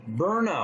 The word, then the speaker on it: Byrna: Again, bar SD launcher pronounced burnout.